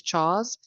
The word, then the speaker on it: CHWS: I also just realized, I know that when students are new to campus, we call Counseling Health and Wellness Services CHAWS, which is spelled CHWS. There is no A. So, CHAWS.